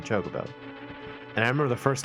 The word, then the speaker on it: Chocobo: have a friend who always used to pronounce um Chocobo as Chocobo he would always say jacobo rather than Chocobo and I remember the